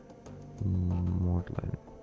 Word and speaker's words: maudlin: Phone to the rescue. Maudlin. Wait. It is maudlin.